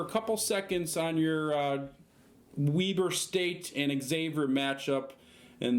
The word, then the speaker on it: Weber: Weaver State? Weber States. The college, not the state. Can you spell that?